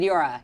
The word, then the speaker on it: Meteora: is the right pronunciation? Yeah, Meteora. Yeah. Meteora.